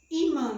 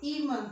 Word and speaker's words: Ímã: Ímã tem 2 sílabas, ímã, ímã, e a sílaba tônica é I, e termina em an, an.